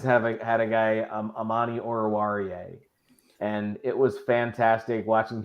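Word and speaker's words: Amani Oruwariye: had a guy um Amani orawarie and it was fantastic watching people stumble over that name and it's like it's pronounced exactly how it's spelled it's just not a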